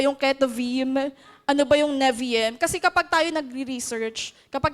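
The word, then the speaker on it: Nevi'im: Tama po ba pronunciation? Neviem.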